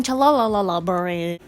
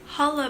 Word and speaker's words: challah: going to be making chalalalalala okay so just as a quick side note it is pronounced hollow bread not cha-la-la-la-la berry that the first